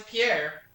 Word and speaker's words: Pierre: player one the name of this south dakota state capitol isn't pronounced like a french name but like a synonym for doc what is pierre player one well done